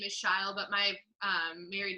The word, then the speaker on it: Shile: But Shile, I never can remember. Okay. Oh, I say it rhymes with smile.